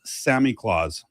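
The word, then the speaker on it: Samichlaus: So it's pronounced Sammy Claus.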